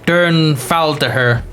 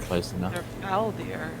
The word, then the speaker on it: Dhernfaldihr: really hard pronouncing myself it's d h e r f a l d i h r d dern foul to her there we go they're foul dear that's how i got it what what you what